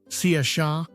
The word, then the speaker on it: Saoirse: "Saoirse," she replied, pronouncing it Saoirse.